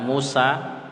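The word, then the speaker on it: موسى: Arab sama seperti Musa kata musa itu setelah Sin hurufnya ya tapi dibacanya seperti Alif Musa udah al-huda seperti itu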